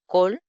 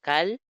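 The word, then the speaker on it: כָּל: Eso significa que ambas se van a pronunciar como O al principio. Entonces tenemos col y tenemos ma.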